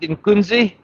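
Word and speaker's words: iNkunzi: Anyway, over there we've got, I think you pronounce it in Kunzi. Let me just read quickly. Yes, you pronounce it in Kunzi.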